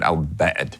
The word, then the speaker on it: Al-Bad: It's called Al-Bad. In Arabic, it would be like if you say bad as someone's choking you a little bit, and you'll say it right, Al-Bad.